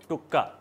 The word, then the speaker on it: tuk: Today will make very simple and tasty potato snack named Potato tuka. its written as tuk but its pronounced as Tuka and this is a Sindhi specialty.